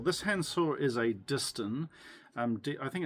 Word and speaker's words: Disston: This hand saw is a Dist um I think it's spelled D I S S T O N.